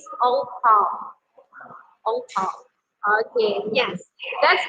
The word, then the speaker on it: 红包: Because Chinese people in Indonesia always say it as ang pao. So we just know that the real pronunciation is ong pao.